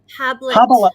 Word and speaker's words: Hablet: No, I know, but how do you say the second name? Is it Habit or Hablet? Hablet. Just call it Hablet. Hablet. if you want tablet, ask Hablet.